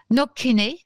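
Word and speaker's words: Knockainy: du compté de kNOK alors Noken je peux je vous le prononce mais enfin bon ça s'écrit k n o C K a i n y je fais gaffe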